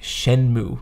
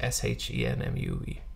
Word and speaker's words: Shenmue: It's pronounced like Shenmue. Like it's just S-H-E-N-M-U-E.